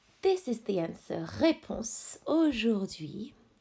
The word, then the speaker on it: Aujourd'hui: Aujourd'hui. Aujourd'hui. This is silent H.